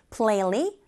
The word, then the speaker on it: plainly: 빈칸에 들어갈 말은 plainly 발음하실 때 plain까지 발음하고 li 하시면 되죠. 붙여서 발음하면 plainly that means 그대로 있는 그대로 보여줍니다.